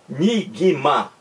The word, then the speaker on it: enigma: Enigma. Enigma. Nós temos a impressão de que aqui, ó, enigma, gui, aparece também um I. Aqui, ó, enig. Mas não existe esse I.